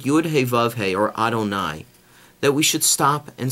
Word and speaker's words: Adonai: Yud He Vav He is really pronounced Adonai.